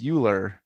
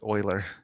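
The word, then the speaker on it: Euler: math textbook and because you know how to pronounce euklid you assume it's uler and it wasn't until much later in the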